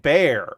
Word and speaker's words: Bexar: Uh, Manor and Bear. Okay, so Bexar is Bear, and Manor is Maynor.